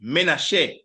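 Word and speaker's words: Manasseh: It is pronounced Menace and on screen you are seeing here is his wife Asenath.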